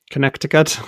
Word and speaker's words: Connecticut: I found out that Connecticut has three C's who pronounces the second C Connecticut Connecticut um that's right